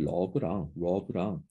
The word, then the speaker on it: rub: 그래서 가끔 이 rub랑 우리나라 사람들이 R 발음이랑 L 발음을 잘 못하는 경우가 있는데 자, 이거는 앞에 약간 우 발음이 나고 L은 을 발음이 납니다.